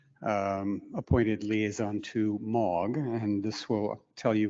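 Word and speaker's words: M3AAWG: against it uh so the three is silent in that name in 2009 they asked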